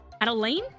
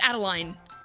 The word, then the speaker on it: Adeline: Adelaine. Adeline. It's Adeline. That's how that's pronounced with the E and the I.